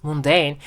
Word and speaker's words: mundane: life is just very mundane and boring sorry for the pronunciation mistake in my last video but apparently it turns out that pronunciation of this word is not mundane it's mundane okay or else it